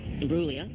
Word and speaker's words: Imbruglia: scared oh this uh Natalie brua the G the g is silent g is silent oh